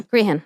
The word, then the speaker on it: Grehan: Justice Paul McDermott was set to preside over the trial, and Brendan Grehan, SC, is that the correct pronunciation of the last name? Spell it. Grehan. Yeah, Green, yeah. Grehan.